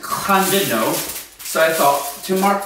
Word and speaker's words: Llandudno: Fans and a place called, we called it Llandudno. Apparently that's wrong. It's actually pronounced Llandudno.